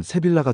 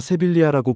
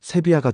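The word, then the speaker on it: Sevilla: 그래서이 단어의 스페인식 발음은 세비아가 됩니다.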